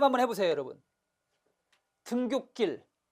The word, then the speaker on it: 등굣길: 등굣길로 발음됐죠?